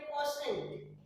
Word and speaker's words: quotient: इसको बोलते हैं QUOTIENT. QUOTIENT. इसको पढ़ते हैं कोसेंट.